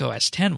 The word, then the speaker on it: OS X: x dot photo yes it's pronounced 10 not x there's a series of remastered classic mac os mac os 10 wallpapers i should say